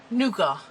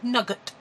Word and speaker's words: nougat: I actually painted the whole of the board with nougat, or nugget, depending on how you pronounce these things, from Paparazzi, one of their fresco finished chalk acrylics.